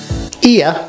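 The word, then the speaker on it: Oia: let's explore here ear often mispronounced as Oya is the most visitor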